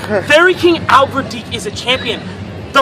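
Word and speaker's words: Albverdich: that's how you say his name fairy King Albert deak is a champion the f one of the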